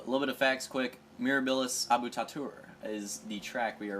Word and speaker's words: Mirabilis Abutatur: tight uh a little bit of facts quick mirabilis abut tatur is the track we are racing right here that is how you pronounce it Latin name if you want to